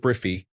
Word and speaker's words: Briffy: Story 71, Briffy, because in French we greet with salut, and salut Briffy is pronounced exactly the same as ca lubrify, which means it lubricates.